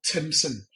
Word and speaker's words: Timpson: There's a business called Timson. It's spelled Timpson.